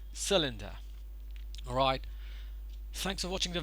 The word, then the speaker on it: cylinder: syllable over here and just cooled as cylinder cylinder not cylinder or cylinder or something so it's the stress is on the first syllable it is cylinder once again let's go